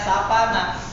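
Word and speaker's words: savanna: kekuningkuningan ini namanya Sabana kalau orang Inggris bilangnya sapana kalau di Indonesia bacanya Saba Sabana tingal diganti B aja jasbana baik dari yang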